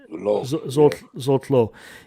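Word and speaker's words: Zsolt Löw: Is that how you pronounce his name? Zolo? That's how you pronounce it. Zolo.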